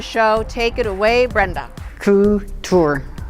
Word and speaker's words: couture: take it away Brenda coo tour often mispronounced as core tour is a fashion that